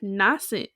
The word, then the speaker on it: nascent: week all right yeah this week's word is nassent and it is spelled n-a-s-c-e-n-t int nascent means coming or having